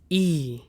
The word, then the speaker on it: I: I is pronounced as E. E.